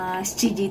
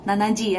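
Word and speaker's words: 七時: Tapi kalau misalnya menyebutkan waktu, itu kita pakainya shichi. Nggak ada yang nyebutin shichiji itu nanaji ya.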